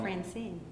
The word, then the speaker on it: Francine: as a single foot we can see that the stress falls upon the second one and so that's what